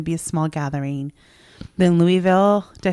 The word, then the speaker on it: Louisville: Then Louisville.